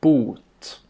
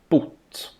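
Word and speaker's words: bot: This word has a long vowel boot and it means cure. This word has a short vowel boot and it Wait, where do you see the short vowel though?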